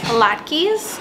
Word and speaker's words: latkes: true neighborhood okay so Trader Joe's has latkes some Jewish people pronounce them a lot keys I am not one of those people my dog just tap